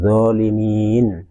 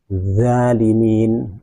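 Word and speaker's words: ظالمين: Zolimin, zolimin, tidak boleh diucapkan zalimin, zalimin, atau tidak boleh diucapkan zalimin, atau juga tidak boleh diucapkan jalimin.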